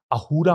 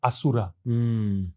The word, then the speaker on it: Ahura: is very interesting because ahura comes from Asura the same root in Persian the word s could not be pronounced and it was replaced by H everywhere so Asura becomes ahura that means you can